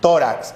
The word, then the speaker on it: tórax: Tórax. Sílaba tónica, to.